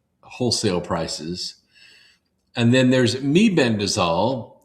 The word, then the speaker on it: mebendazole: And then there's Mebendazole. Some people call it Mebendazole, but Mebendazole is the right way to say it.